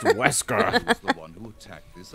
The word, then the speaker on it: Wesker: Whiskers? It's pronounced Wesker.